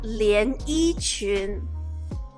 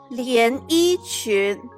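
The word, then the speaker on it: 连衣裙: and the bottom, like this picture, it's called 连衣裙. 连衣裙.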